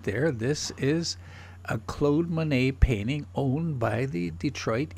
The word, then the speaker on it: Monet: be tempted to pronounce Manette but in French only words ending with the letter C are F or L are pronounced the rest of the words you don't pronounce the last letter it is